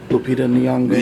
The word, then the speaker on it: Lupita Nyong'o: Her name, I believe, is pronounced Lupita. Lupita Nyong'o. Yes, Nyong'o. And so Lupita, it was such a fantastic actor to me.